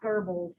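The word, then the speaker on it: Goebbels: propaganda it doesn't have an r but it's pronounced verbals yeah oh okay um about how he kind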